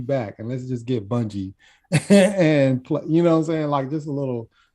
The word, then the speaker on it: Bungie: Bungie. Thank you. I was trying to pronounce it in my head.